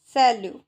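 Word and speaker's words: salut: सैल्यू। सैल्यू means TV इसमें क्या हो गया?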